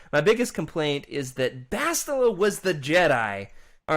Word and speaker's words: Bastila: Bastila, of course, or if you're Freddy who says Bastilla, like he doesn't know what he's talking about. Isn't that how you say it, Freddy? Bastila, yep, that's it.